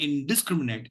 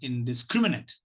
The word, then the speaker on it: indiscriminate: indiscriminate it is indiscriminate so the last syllable is not stressed it has a weak